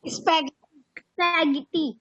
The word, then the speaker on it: spaghetti: तो यहाँ पे घा को गा की तरह प्रोनाउंस किया जा रहा है. स्पैगेटी. What is this? किसी को आइडिया है? Spaghetti.